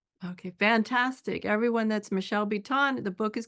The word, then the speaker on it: Biton: your website I know the way we say Bon is not how it's spelled so it's Michelle Bon m i c h e l l e